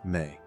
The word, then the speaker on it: me: His legacy is tied to one of the most fascinating and mysterious concepts in all of Sumerian thought: the sacred Emi, pronounced Me.